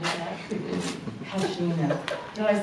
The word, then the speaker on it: Pashina: Pashina.